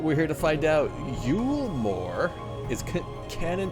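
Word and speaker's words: Eulmore: Yulmore is canon pronunciation.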